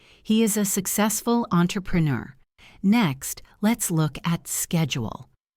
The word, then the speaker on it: entrepreneur: It is pronounced entrepreneur. The stress is on the last syllable, neur. He is a successful entrepreneur.